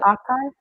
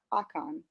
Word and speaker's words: Akan: Akan, Akan, Akan. Akan, Like it's AA and then Kaan. Akan.